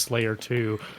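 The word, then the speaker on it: F5L4Y3R 2: sigfig in the community named F5L4Y3R space 2 parenthetical pronounced Slayer 2.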